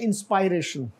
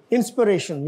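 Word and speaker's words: inspiration: और ये जो है इसको बहुत सारे लोग हमारे जो है ना वो बोलते हैं इंस्पायरेशन, इंस्पिरेशन, यस.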